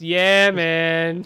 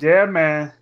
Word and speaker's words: Yemen: not it pronounced it's not pronounced him it's pronounced yeah man yeah man alright so I'm not going to go too